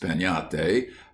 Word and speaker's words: piñata: But everywhere, children would be talking about breaking a piñate, pronounced peñate, as you talk of having a tree.